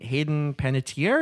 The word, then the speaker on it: Panettiere: from 2012 to 2018, stars Connie Britton and Hayden Panettiere. Is that how you pronounce her name?